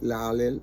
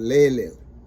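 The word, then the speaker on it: לַיִל: Sometimes people pronounce it differently, like la-lil, but lay-lil, okay?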